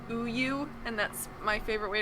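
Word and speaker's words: 우유: The Korean word for milk is pronounced uyu, and that's my favorite way to refer to milk.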